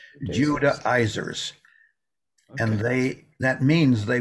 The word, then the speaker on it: Judaizers: You can pronounce it different ways. That's how I have always pronounced it. Judaizers.